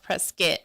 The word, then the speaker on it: Prescott: a town a town spelled like Prescott but it's pronounced pres skit so that's another so